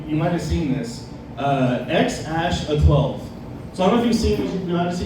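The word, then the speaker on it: X Æ A-12: It's super crazy when you see it actually written out, because he uses that A-E combo letter that nobody uses since the 1400s. So it's pronounced X-Ash-A-12.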